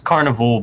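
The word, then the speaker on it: Karnivool: like, well, it's Carnival, but they spell it with a K and 2 O's.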